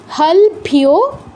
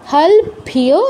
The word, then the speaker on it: হলভ্যো: তারপর ওম হলভ্যো, হলভ্যো লয়ের নিচে হসন্ত আছে, মানে লটা পূর্ণ উচ্চারণ করা যাবে না।